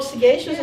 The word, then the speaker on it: Sagashus: So Sagashus is a word in the English dictionary, and it's spelled. The last syllable is spelled differently. It's Sagacious, and it was a word